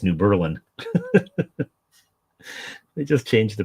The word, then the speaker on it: New Berlin: changing the name entirely, they just changed the pronunciation. So instead of New Berlin, now it's New Berlin.